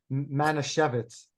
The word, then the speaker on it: Manischewitz: How do you pronounce it? Manischewitz.